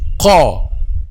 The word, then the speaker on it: ق: If the back of the tongue is not raised, this letter will be a light letter. So, qa, qa, qi, qu, qa, qa, qa. You feel that the back of the back part of the tongue, or the deepest part of the tongue, is raised or not?